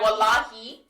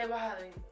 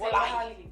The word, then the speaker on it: wallahi: they're using Wahabi Wallahi. a lot. Yes. Yeah. Say Wahali. Like how do you say it? Say Wallahi. Say wallahi. Say Wahali.